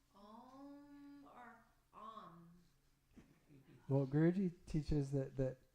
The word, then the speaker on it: AUM: Like it's spelled AUM, but it's pronounced Om.